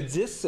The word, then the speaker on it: iPhone X: je croyais que c'était le X quand il avait dit ça. Non, ça fait un petit peu plus mystérieux, iPhone X, mais c'est le 10 qu'il faut prononcer.